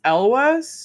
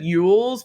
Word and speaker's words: Elwes: uh I literally just looked it up I think it's Elwes Elvis okay Elvis I think I think it's like Elvis but Elvis oh okay okay I always said Yules but that's not a I think it's it's Elwes I think okay yeah I